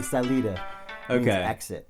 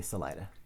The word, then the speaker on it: Salida: you're from the uh the americans say salida salida salida okay okay but the uh it's like spanish would say salida with the bottom of the san luis valley and uh so if you're you know you get to the end so this is the exit okay okay gotcha but the locals say salida yeah yeah it's like